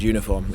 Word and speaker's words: uniform: We could have an umbrella so we have "an", but only a uniform because the word uniform even though begins with the "u" a vowel, begins with the "why" sound.